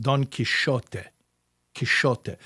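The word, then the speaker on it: Quijote: Donote in medieval Spanish would be pronounced donish kishote. What is kishote?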